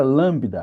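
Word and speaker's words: λάμβδα: A letra lambda agora já ficou diferente de novo.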